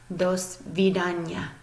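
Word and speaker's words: до свидания: as you would think you would pronounce this dosvedanya dosvedanya so I'm gonna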